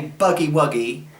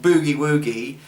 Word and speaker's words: Boogie Woogie: You know, well, you know, the Americans say Buggy Wuggy, Buggy Wuggy. The British say Boogie Woogie.